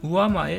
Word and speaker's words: 上前: ちなみに畳の基準となるところを業界用語で上前って言います。